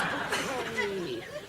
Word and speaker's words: Bucket: How do you spell bouquet? B-U-C-K-E-T. What? B-U-C-K-E-T. Oh, Bucket. It's bouquet.